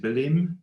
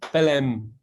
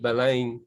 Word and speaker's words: Belém: Belém. Belém with a slash over the second E. Belém to you and I, but Belém to them.